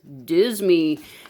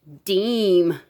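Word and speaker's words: disme: silver minted coin was this 1792 half, and it looks like it says Deezie, but really it's pronounced Deem. So the very first silver coin minted in the U.S. was a half Deem, and it was literally worth 5 cents.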